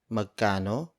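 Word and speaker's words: magkano: how much is this word for word it's Meccano poor ito Meccano poor ito Maga no poor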